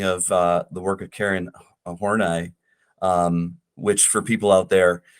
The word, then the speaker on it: Horney: the work of Karen Horney, which for people out there, sometimes it looks like or it gets pronounced horny.